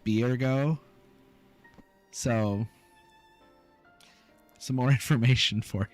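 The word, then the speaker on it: Byregot: the crafting actions which is spelled b-y-r-e-g-o-t is pronounced biergo so some more information for you graha is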